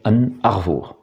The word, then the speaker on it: An Arvor: En réalité, la prononciation avait continué à évoluer pour aboutir à la prononciation en breton moderne qui est An Arvour.